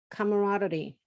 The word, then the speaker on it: camaraderie: And I think you can also feel when people are joyful or are willing to work together, and there's a good camaraderie.